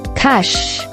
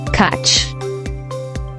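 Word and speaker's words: cache: This word is pronounced as cash and not catch or catch.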